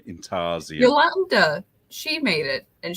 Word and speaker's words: intarsia: Intarsia. So it's the "je" at the end, Intarsia. That's how you say it, is it?